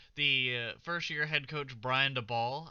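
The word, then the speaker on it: Daboll: head coach Brian DeBall, I believe is how you pronounce his last name, I think I have actually heard it said Dable, but or Dable. Or I thought at first it was DeBool, but anyways, Brian Dabble, getting the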